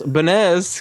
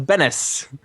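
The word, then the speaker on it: Benes: Perhaps Miss Benez can explain why Jerry Seinfeld signed for this package. But his mispronunciation of Bennis.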